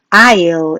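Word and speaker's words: aisle: 이 단어 읽는거 어려워요 es 가 묵음 이기 때문에 발음을 안해서 i5 이라고 발음합니다 에서 스탠딩 일어나요 스탠딩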